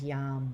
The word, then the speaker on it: yam: Breathing in, the seed syllable here is Yam, Y-A-M.